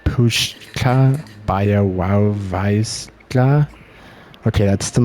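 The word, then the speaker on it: Puszcza Białowieska: Puzza Bialauesca. Oh, well, okay. That's embarrassing. Wow. I was pronouncing it very wrong. Apparently, here it says it's pronounced Pushka Białowieska.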